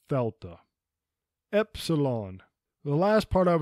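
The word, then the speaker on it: Δέλτα: a y Yama Fela this is almost always pronounced Delta in English but correctly it is thta Epsilon the last part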